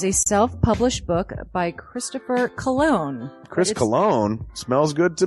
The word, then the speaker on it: Colon: It is a self-published book by Christopher Cologne. Chris Cologne smells good to me. But Look at her. That broke that fucking cold little exterior. He's like, hee. But it is spelled Colon. Him punny.